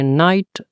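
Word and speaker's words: night: brother brother at नाइट जी H silent कर देंगे नाइट आई eat dinner dinner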